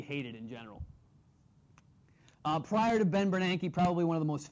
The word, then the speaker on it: Bernanke: Looks like it should be pronounced Ben Bernanke, but it's Ben Bernanke.